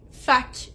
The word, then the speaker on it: fac: La première, c'est fac ou fac. C'est un mot qui est dérivé de la phrase ça fait que et on la raccourcit pour faire juste fac ou fait. Les deux prononciations sont bonnes.